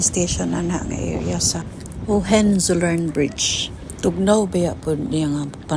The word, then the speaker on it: Hohenzollern: Gipangtaya na gayong uban pero mura gid ni ilang anihi andere aning Hohenzollern Bridge kuya kay pag-pronounce ay Hohenzollern.